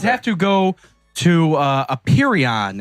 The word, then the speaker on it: Apeiron: have to go to Aperion. It's spelled as Ape Iron. No joke. Ape Iron.